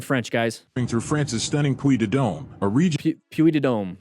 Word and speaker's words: Puy de Dôme: Through France's stunning Puy de Dôme, a region.